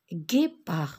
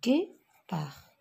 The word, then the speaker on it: guépard: Guépard, regardez G. Je vois G suivi de la lettre U. Guépard.